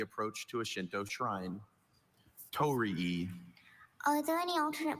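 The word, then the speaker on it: torii: Tori. Are there any alternate pronunciations?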